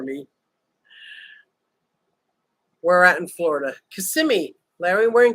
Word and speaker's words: Kissimmee: too fast for me where at in Florida Kissimmee Larry wearing Kissimmee thank you I just like saying it now that I know I'm saying it correctly Kissimmee and then we came home for lunch had